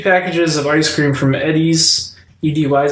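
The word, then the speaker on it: Edy's: There's a guy who samples over 50 packages of ice cream from Eddie's. EDY is how you pronounce it?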